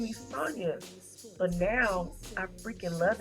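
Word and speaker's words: Sonja: I'm like, why did you name me Sonia? But now I freaking love it because I'm totally different. It's not a lot of Sonia, especially spelled like my name. So S-O-N-J-A.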